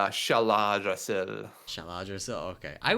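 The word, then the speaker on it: Shaladrassil: How do you pronounce it? I don't remember the Oh, it's Shaladrasil.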